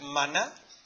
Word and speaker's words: maná: ¿Sabes lo que es el maná? Lleva tilde porque termina en aguda. ¿Sabes lo que es el maná o no?